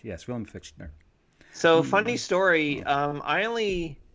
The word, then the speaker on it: Fichtner: Fichtner.